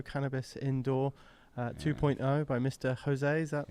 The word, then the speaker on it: Jose: Jose. Is that pronounced right?